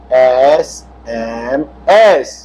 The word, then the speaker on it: SMS: SMS। उच्चारण देखिए, पहला क्या है? स्वर है।